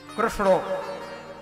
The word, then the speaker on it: कृष्ण: रख दिए क्यों क्योंकि कृष्ण बोलने में तो बड़ी दिक्कत है कृष्णों जब तक आपकी जीव तालू में टकरा नहीं श उच्चारण होगा कृष्ण और सीधे बोले तो क्रश हो जाए क बत से लोग क्र बोल कृष्णो देखो राम जी